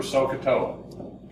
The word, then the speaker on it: SOHCAHTOA: So we need to remember SOHCAHTOA. Okay, so with a silent H, CA with a silent H, and then TOA.